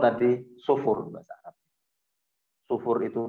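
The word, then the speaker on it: صفر: Nah, ada bilangan sebelum 1, 0, itu bahasa Arabnya sufur. Sufur. Sifar, sufur bacanya. Tulisannya short faro, nanti saya tulis sifar. Bahasa amiyahnya dibaca sufur.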